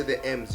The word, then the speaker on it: M's: Pronounce it as the M.